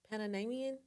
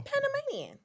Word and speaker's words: Panamanian: What's the proper way to say it, y'all? Panamanian. Is it? If you're from Panama, not the Florida, but Panama, I really think it's Is it how you Panamanian.